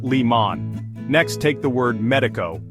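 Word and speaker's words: León: last syllable but here the accent mark on the o tells us to stress the last syllable instead so it's pronounced Leon next take the word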